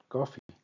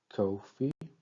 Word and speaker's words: coffee: Then we have for instance the word coffee where we have coffee and we can actually identify that the stress falls on the first syllable coffee.